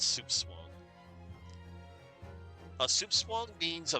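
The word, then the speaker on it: soupçon: It's pronounced soup swang.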